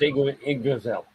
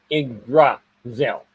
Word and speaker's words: Yggdrasil: Did 3 I Atlas pass by the sun right where the That's pronounced Yggdrasil. What's that? That's pronounced Yggdrasil. Yggdrasil? Yggdrasil.